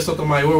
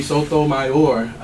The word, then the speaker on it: Sotomayor: And this idea that saying Sotomayor with the final syllable stress is unnatural.